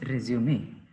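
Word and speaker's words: résumé: हाँ, RESUME, उसके बाद एक एपोस्ट्रॉफी, उसको प्रोनाउंस करो। Resume. ओके, तो सबको समझ में आ गया, इट इज रेज्यूमे।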